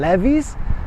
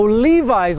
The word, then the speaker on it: Levi's: I looked at him levies Oh Levi's like Levi Strauss San Francisco right yeah not levies that Levi's hey I'm now standing directly